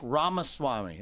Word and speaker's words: Ramaswamy: than most people yeah it's like Rama Swami like CD-ROM but yeah what I